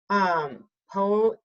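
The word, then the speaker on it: ποιέω: So poio, I believe is how you say it.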